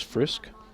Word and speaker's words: Frisch: o2 Frisch clarification on how to pronounce Kayla's last name that is frisk she's the designated player